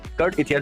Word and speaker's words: Cartethyia: Kurt Ethia. Okay, Kurt Ethia. All right. Okay. Kurt Eitha. That's how I That's how you should pronounce.